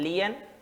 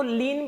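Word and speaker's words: lien: इन transit and resale लियन को लीन भी बोल सकते हो मुझे प्रोनंसिएशन वाला कहते हैं इसमें जो स्पेलिंग भी प्रोनंसिएशन पसंद है और यह रिकॉग्नाइज है लायन मत करना वो भी मिलेगा फिर एल आई ओन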